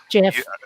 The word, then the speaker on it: GIF: And as far as how we pronounce GIF, Jeff. or GIF, or however you wish to do it, words change, and nobody has the say.